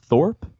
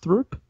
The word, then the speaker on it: Throop: Is it pronounced Thorpe? Is it pronounced Throop? I have no idea how it's pronounced. I always called it Throop. Might have been Trump. Yeah, I thought it was Thorpe too. I'm pretty sure it's Thorpe. Rhymes with poop. Throop. well, whatever.